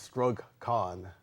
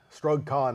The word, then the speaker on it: STRUGG: The organization is STRUGG. I'll spell that. That's S as in Sam, T as in Tom, R, U, double G as in George, CON, STRUGG, and it simply stands for Struggle Continues.